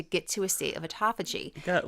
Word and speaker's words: autophagy: But there is something called autophagy. And this is something where it kills off your Great old job on pronouncing that.